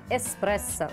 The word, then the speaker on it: эспрессо: кофейных зёрен особым способом звучит так эспрессо буквы к там нет А как правильно говорить